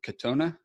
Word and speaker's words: Katona: The thing that I've got going on today is we've got Denny, you pronounce it Katona? Yes, okay. Congratulations.